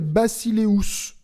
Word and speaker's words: basileus: il est dirigé par un empereur qu'on appelle bacileus ça s'écrit basileus ça veut dire maître du monde